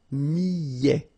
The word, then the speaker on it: millet: Le millet, here, I, and then double L, so I, millet. ET at the end, open, millet.